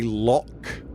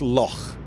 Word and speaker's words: Loch: They don't say Loch Ness, but it's a cross between lock and a snort. It's Loch.